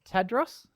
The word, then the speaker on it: Tadros: It was Tadros? Yes, you did really well. It is Tadros. It's phonetic. Fantastic. And it does sound like it's spelt and spelt like it sounds.